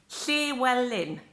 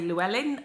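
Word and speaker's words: Llywelyn: got a name and which begins with a double L, which we don't use in English, and that is so you pronounce his name Llewellyn. Lots of people would say Llewellyn or Llewellyn, but and there are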